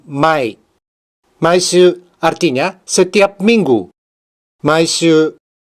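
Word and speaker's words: 毎: Satu cara bacanya, mai.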